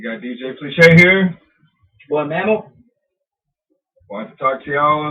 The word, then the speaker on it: Mamall: you know you know m-a-m-a-l-l but pronounced as m-a-m-m-a-l so it's mammal you really like that